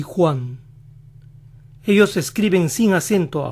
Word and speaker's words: Juan: oye así joaquín joaquín juan juan así que para los que se llaman juan si alguna vez oyen que alguien dice uno wang posiblemente los están llamando pues suena casi igual centro buffet y el nombre